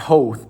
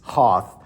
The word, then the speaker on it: Hoth: they were on Hoth, not Hoth, by the way, it's Hoth.